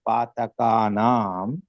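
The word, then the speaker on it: पातकानाम्: आपको बरोबर सुनना है, पातकानाम बोला है। So some people pronounced as पातकानम. Okay, make the corrections.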